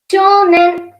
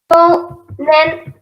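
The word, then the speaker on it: 少年: So for boy, shonen, shonen, shonen. O is prolongated here, so they write U in Romaji.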